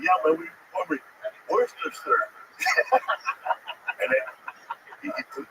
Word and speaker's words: Worcester: Oh, Worcester.